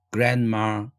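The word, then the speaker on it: grandma: 줄 4 l 드 그랜 마 할머니 할 때에 브랜드 마 이렇게 발음하지 않고 그랜마 그랜마 덜 두번째 줄도 풍경 경치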